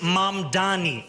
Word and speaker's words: Mamdani: Furthermore, the name is Mam Dani. M A M D A N I. You should learn how to say it because we got to get it right.